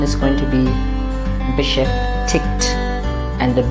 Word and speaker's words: beschäftigt: Now, normally, if it is ig at the end, we know that we pronounce it as ich, but here it is ig and a t, and so mostly we are going to pronounce the g as g.